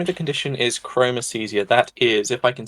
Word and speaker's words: chromesthesia: you have the name of the condition is chromicesia that is if I can spell it it's c h r o m e